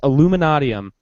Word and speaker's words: Illuminatiam: Illuminatiam or Illuminatiam. I think it's pronounced Illuminatiam. And there's a meme going